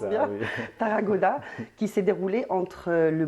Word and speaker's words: Tarragona: la photographie Scan Tarragona, c'est ça, je le prononce bien, oui. Tarragona, qui s'est déroulé entre le mois d'octobre 2023 et le mois de janvier 2024.